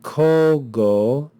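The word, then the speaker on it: cogo: of this word so instead of saying KO ago we contract the vowels and we have the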